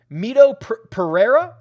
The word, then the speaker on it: Mito Pereira: have to give draftkings data a refresh um mito pereira i believe is how he pronounces it is 100 and let me just